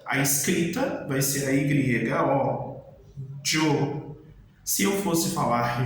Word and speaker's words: yo: Se eu fosse falar eu em espanhol, a escrita vai ser a Y-O, yo. Se eu fosse falar já em espanhol, a escrita vai ser Y-A, já. Então, yo, já.